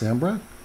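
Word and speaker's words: Sambreque: I've been pronouncing it all wrong. I thought it was all fancy because it's got the Q-U-E. It's just Sambrec?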